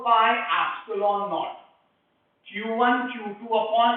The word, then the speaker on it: epsilon naught: this is called as epsilon naught. Epsilon 0 भी कहते हैं या epsilon naught भी कहते हैं. That is how you pronounce it.